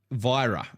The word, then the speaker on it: Virra: yeah no so the good news I found out how to say is virra virra is the server win virra it's not um so I've been saying it wrong the whole entire time so it's virra so for example let